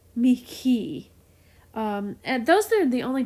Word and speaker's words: mihi: And there's another Latin word, mihi, and it's the same. Instead of an H, it's like mihi.